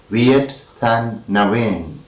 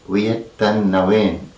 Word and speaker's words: Viet Thanh Nguyen: and it is pronounced Viet Thanh Nguyen. Viet Thanh Nguyen. The spelling is quite different and it is not read like any names of English.